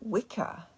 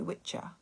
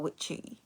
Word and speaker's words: Wicca: And you realise that what we call Wicca is incorrectly pronounced. It should be Witcher or Witchy, and it actually means witch.